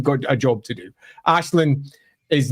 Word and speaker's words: Aislinn: Ashlin is not a respector of other people's cultures.